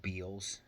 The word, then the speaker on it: Beals: of it but it's a place called beels kind of rhymes with deals but it's called Beals um as far as